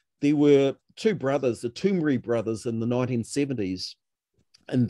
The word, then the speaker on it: Toomre: How you spell it is Toomre, Toomri brothers.